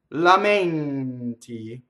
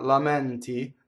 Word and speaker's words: lamenti: Lamenti, it's not lamenti, lamenti, closed E.